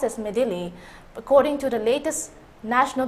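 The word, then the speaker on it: Midhili: has intensified into a cyclonic storm named medil pronounced as medil according to the latest National bulletin issued at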